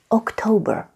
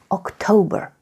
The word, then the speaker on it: October: Being Romanian and being used to pronouncing octombrie your whole life, you tend to put that letter M inside that word. But just for you to know, there is no M. Just October. October.